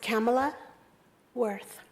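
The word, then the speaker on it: Kamala Worth: spell your name yes it's pronounced Kamla Werth ka ma la wor th okay thank you you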